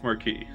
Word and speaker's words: Marquis: pronounce that word in eiles that's how you pronounce the word in the bad eiles in this eil e it's Marquee the fourth Battle of Final Fantasy X doesn't